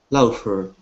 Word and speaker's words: laughter: You have to pre pretend that sometimes actually the gh in English makes an F sound. So it's laughter. Okay, that's a tough one. F. Yes, like an F.